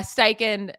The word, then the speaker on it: Steichen: you say it Shane steichen thank you uh steiken you know help Jalen hurts and his development